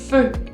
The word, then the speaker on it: feu: En francés, esa combinación de letras hacen el sonido E. E. Es muy parecido al sonido de la E, pero digamos que se apunta, se afina la punta de la boca y hace el sonido E. E. Practícalo. Te doy un ejemplo de una palabra, la palabra fuego, que se dice feu.